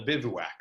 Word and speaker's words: bivouac: out of bodies and is actually called a bivouac that's how you pronounce this and it's actually kind of cool